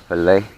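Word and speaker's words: filé: where that comes from I guess it's called fillet and not like what you do to a fish yep this one nice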